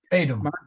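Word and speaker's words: foedum: O-E, O-E, A-E, and E are all pronounced the same. So how? So it's say the word again. Fadum. Pretend the O isn't there for a moment.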